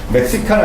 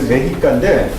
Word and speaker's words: Mexica: 그래서 멕시카는 아니고 원래 메히카인데 멕시카.